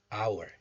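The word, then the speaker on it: hour: example as you know this word is pronounced as our the sound of this h becomes silent so this is not power just our so as mentioned above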